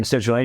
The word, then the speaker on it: L-citrulline: L-citrulline. Citrulline, yeah.